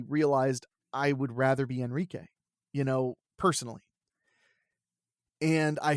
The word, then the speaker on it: Henrique: gonna start going by Enrique now I don't mind if people call me Henrik or Henrik or henrique those are all correct pronunciations it's just my preferred pronunciation is going to be Spanish it's you know and